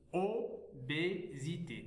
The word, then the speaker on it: obésité: Obésité. On a ici la lettre S entre deux voyelles, on la prononce Z.